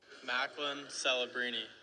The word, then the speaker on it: Macklin Celebrini: All right, let's see what Macklin Celebrini pronounces his name as. This is good podcasting. Macklin Celebrini.